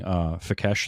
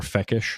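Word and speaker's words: Fekkesh: he's supposed to be meeting Fekesh there, or Fekish. Yeah, they pronounced it both ways.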